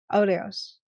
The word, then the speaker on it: Aureus: And I call myself Aureus. Aureus? Aureus. It ends with us.